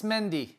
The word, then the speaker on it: Mendy: was interested in the the mondi mendy her pronunciation frank what are we going for uh it's mendy you're an idiot he said that with such